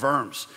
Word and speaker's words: Worms: The Diet of Worms, it's not Diet of Worms. In German, you pronounce the W as a V, so Diet of Worms.